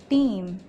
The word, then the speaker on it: team: For example, in the word road, two vowels are coming together. Road has the sound and A is silent.